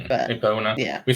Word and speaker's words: Epona: How do you pronounce that? Epona. Yeah. We say in Sweden we say Epona.